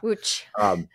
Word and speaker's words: Łódź: Łódź.